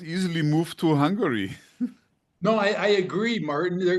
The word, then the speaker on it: Hungary: Oh, sorry, Hungary. Three Yes. syllables, Martin. Hungary.